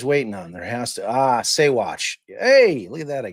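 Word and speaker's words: Saguache: Saywatch. You don't pronounce the G.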